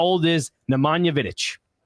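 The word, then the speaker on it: Vidić: Vidic. Vidic. Excuse me. Vidic. Yeah. Played for Manchester United way back in the day. How old is Nemana Vidic?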